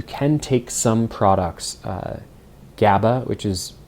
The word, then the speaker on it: GABA: Um, and one of them being you can take some products uh, GABA, which is spelled G- A B- A, which is a precursor to humans making their own melatonin inside their their body.